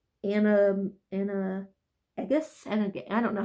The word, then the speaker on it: Animagus: I think that says Animagus, I don't know how you say it. It's Animagus.